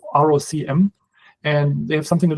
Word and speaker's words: ROCm: They have, I think I don't know how it's pronounced, maybe ROCM. It's ROCM.